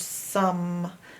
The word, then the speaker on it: some: The two vowels are strange in the word some. There are some strange vowels in the word some. The O and the E. Some. No sound at all in the E. And O is making a strange sound.